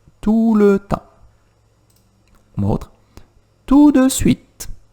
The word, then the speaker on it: tout de suite: Tout de suite, que eu vou falar assim. Tout de suite, ou tout de suite. Tout de suite, eu vou quase comendo esse D no meio.